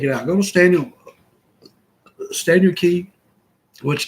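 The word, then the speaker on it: Cay: Go to Stanley Key, which Key is spelled C-A-Y. Don't let that fool you. Spelled like it would be K, but it's pronounced Key.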